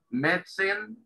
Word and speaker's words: medicine: Medicine. Medicine. ¿Sí? Es como si la primera I no se pronunciara. Medicine. ¿Sí? Y la E tampoco al final.